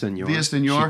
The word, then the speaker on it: Villaseñor: How do you say her last name? Villaseñor.